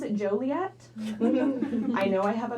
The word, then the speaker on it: Joliet: We pronounce it Joliet.